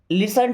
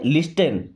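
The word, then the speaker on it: listen: लिसन टू मी, दोस्तों अगर आप इसे पढ़ते हो तो क्या पढ़ते, लिस्टन, क्या पढ़ते, लिस्टन। बट यहाँ पे टी साइलेंट है, क्या पढ़ते, लिसन।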